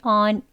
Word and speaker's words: on: 어 소리가 더 많이납니다 여기 온으로 잘못 알고 계시는 분들이 있으신데요 오이라고 하지 않습니다 on on이라고 발음하는 거예요 여기 점점 표시는 길게